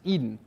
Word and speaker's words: edn: is the extensible data notation edn pronounced Eden and this is just